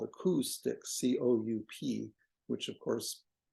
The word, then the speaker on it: coup: It was to whack them with a stick, and it was called a coup stick, C-O-U-P, which of course doesn't pronounce the P because it's a French word that they would say coup, and English would say coup.